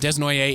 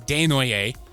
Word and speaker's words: Desnoyers: They picked Caleb I pronounced his name wrong last week. I said Desnoyers. It's Desnoyers. He's French-Canadian from Quebec. So Caleb Desnoyers, he is